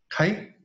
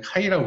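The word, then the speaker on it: χ: 카이? 오케이. 내가 아까 정확하게 했네. 자, 얘는 카이라고 부르는 거야. 일렉트론 어페너티야, 우리말로 하면. 카이라고 읽는 거고, 읽는 거는.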